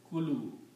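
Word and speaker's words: كلوا: But in this case, this first letter, alif, is a weak letter. In the pronunciation, it is not pronounced. So this word which is left right now is kulu.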